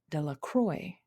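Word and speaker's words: Delacroix: Jones and dicki dequa the villagers pronounced this name de la Croy eventually made a great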